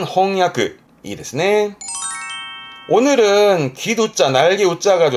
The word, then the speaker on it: 翻訳: 책은 홍발음이니까 번역은 그렇죠. 4번 4번에 홍야. 번역은 홍야.